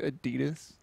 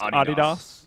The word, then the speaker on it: Adidas: did you just say Adidas yeah kind you know that's not how it's pronounced it's actually pronounced adidos yeah it's a German company so it makes sense that it would be pronounced that way but it seems as